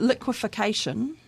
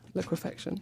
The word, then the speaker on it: liquefaction: that's to say that liquefication am I saying that right liquefaction liquefaction there you go said it wrong already um just as it